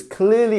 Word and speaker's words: clearly: would we pronounce clearly there's two there are two um two syllables here clearly which one is our stress syllable if you can notice it now it is the first one right we have our DOT